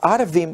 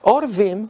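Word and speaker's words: עורבים: cañada o del valle si leemos el texto completo y lo pronunciamos en harbín o árabes no tendría sentido miremos el ojo que es carne sea su padre y menosprecia la enseñanza de la madre los orvin o cuervos porque creemos que esta es la pronunciación correcta porque luego se asocia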